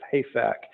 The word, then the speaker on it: HAFAC: How do you pronounce that? It is the Hanford Area Economic Investment Fund Advisory Committee, Okay. colloquially as HAFAC.